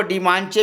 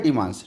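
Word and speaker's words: dimanche: एन सी एच ई को डी मानचे भी पढ़ सकते थे इंग्लिश में लेकिन फ्रेंच में क्या होता है डी मां मांस तो फ्रेंच में इसको बोलते हैं डी मांस ठीक है और इसी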